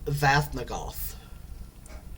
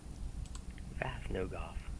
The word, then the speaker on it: Vathnogof: Spelling is, and I actually said it wrong. The spelling for it is Vathnogof. Okay. I heard it correctly. Vathnogof. More of a throaty pronunciation than that.